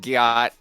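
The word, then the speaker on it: gyatt: I can see why you said Gaiet, because it looks like Wyatt, the name, but it's pronounced Gyat.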